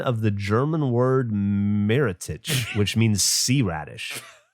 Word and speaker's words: Meerrettich: The name horseradish is believed to be a mispronunciation of the German word Meerrettich, which means sea radish. Meer sounds similar to the English word mare, which led some to mistakenly associate it with horses.